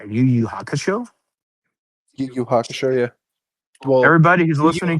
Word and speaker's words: Yu Yu Hakusho: Yu Yu Hakusho, yeah.